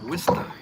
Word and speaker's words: Worcester: Worcester. That's how they say it over there. Worcester.